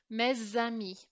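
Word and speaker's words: mes amis: this example we are not going to make this S sound silent because the following word starts with a vowel and if the next word starts with a vowel this dipsticks letter here becomes pronounced so what we're going to do to illustrate this is we're going to draw an arrow linking them together so this becomes mez Sammy okay and the s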